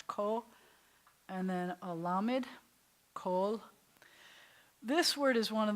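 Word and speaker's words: כל: But kol means all or every, so it rhymes with all.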